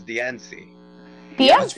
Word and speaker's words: Diancie: So how But, does like- everyone pronounce Diancie?